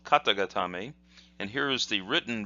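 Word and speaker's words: 肩固め: that in a moment the hiragana is kata and then again got'em a kata means shoulder so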